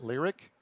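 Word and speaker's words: Lyriq: of two upcoming cadillacs the lyric lyric uh-huh lyric and that's spelled l i'm sorry l-y-r-i-q and the celestique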